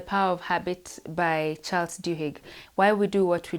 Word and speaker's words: Duhigg: generally is the author charles dahek looks at duhigg actually that's his name it's charles duhigg oh i have butchered